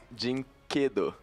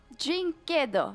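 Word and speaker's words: dyNquedo: Is that correct pronunciation? Jinquedo. Jinquedo. Yeah, perfect.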